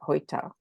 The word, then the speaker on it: heute: And if once you know the sound system in German, and you know that, you know, for example, EU would be pronounced oi, like heute, you can read anything.